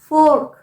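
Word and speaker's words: fork: ये वर्ड्स देखिए February फोर्क एफ ओ आर के फो र का साउंड आएगा फोक नहीं अगर आप फोक कहेंगे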